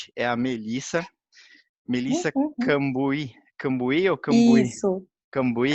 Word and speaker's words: Cambuhy: do meu sobrenome, porque já me chamaram de tudo, Camburrai, Camburri, porque é Cambuí com HY no final.